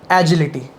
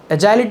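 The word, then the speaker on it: agile: speed body control और एजिल एजाइल मतलब यह कुछ लोग इसको एजिल या एजाइल भी कहते हैं depends on हाउ you speak it एंड हाउ you pronounce it एजिल होती है कि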